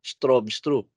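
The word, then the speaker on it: Stroustrup: bne strobes trop no yung letter u dito has a v pronunciation strobes trop during 1979 at Bell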